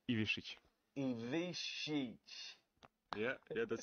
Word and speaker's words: Ivišić: Ivišić.